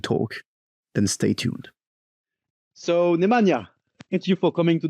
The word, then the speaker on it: Nemanja: Uh, my name is Nemana. Can be a bit tricky to to pronounce it, but you are really really well in that.